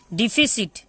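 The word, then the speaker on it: deficit: अब आप सोच रहे होंगे यहाँ पे सी को मैंने 100 क्यों बोला, ठीक है, क्योंकि सी के बाद जब आई, वाई और ई आ जाता है तो सी हमारा 100 बन जाता है, बाकी जगह में सी क रहता है।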